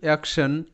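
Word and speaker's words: action: কিন্তু এটা কি জানো এখানে আই ও জাস্ট অ হিসেবে উচ্চারিত আর এর কারণেই কি টি স হিসেবে উচ্চারিত তো এই সমস্ত বিষয়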